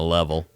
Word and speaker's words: Leavell: Listeners, for you that are not watching this, which you probably aren't, I'm holding a level.